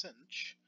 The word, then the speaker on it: sinh: type of cosine the hyperbolic sine function pronounced Cinch is defined in a